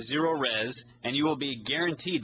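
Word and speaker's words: Zerorez: z just remember if you spell it backwards you still get zero res zero res stands for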